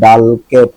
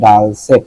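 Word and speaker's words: dulcet: curiosity ঢুকলে জানার ইচ্ছা এই যে ডাল সেট না ডাল কেট না কি হবে ডুলকেট ডাল সেট দেখছেন ডাল সিতে কিন্তু ক উচ নয় সিতে ছ উচ্চ এটা হবে ডাল সেট মানে হইল কি সুমধু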